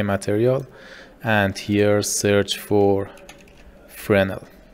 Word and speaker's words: Fresnel: to your overlay material and here search for frenel it's spelled f r e s n l then